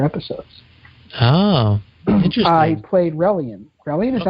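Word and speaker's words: Rellian: He played Relian. Relian, is that how you pronounce the character? Yeah, Relian.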